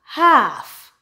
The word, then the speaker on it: half: and a l k typically the L in the word is silent for example aand aand